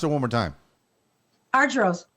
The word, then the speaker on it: Argyro: it one more time archeros arjuro okay i know i'm hungry for euros that's what it is that's the point same thing arjuro you know the our